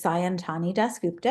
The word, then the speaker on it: Sayantani Dasgupta: become a writer sure um my name is santani dupta if you speak Bengali that's shy is how you would pronounce it I um came to children's writing